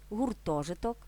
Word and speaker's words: гуртожиток: це не одиниця вимірювання у складних іменниках із двома коренями наголос на о босоніж гуртожиток літопис як запам'ятати легко гуртом у гуртожитку але фіксуємо благовіст листопад